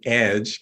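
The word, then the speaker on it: EDJE: Equity um e DJ we pronounce it Edge because we like to say we're on the edge but this group formed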